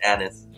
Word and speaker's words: anise: What's he mispronouncing? A-N-I-S-E. Is it anise or is it anise?